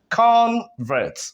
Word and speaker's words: convert: like this convert and because the stress is on the first syllable what do we notice